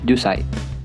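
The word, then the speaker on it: 十歳: Nah, untuk angka 10 harusnya kan ju, tapi hanya dibaca jusai.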